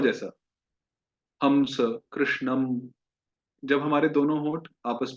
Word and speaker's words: कृष्णं: तो इस प्रकार से दो ध्वनि है। आप दोनों में से कोई भी चूज कर सकते हैं, कोई भी उच्चारण कर सकते हैं। जो दूसरी ध्वनि है वो ज्यादा सही है, अनुनासिक, नेजल वाली, जो म की तरह उच्चारण नहीं होता।